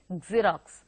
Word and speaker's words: Xerox: We make it a point to pronounce that X as X. So we say Xerox or even Xerox. So it is actually a Xerox.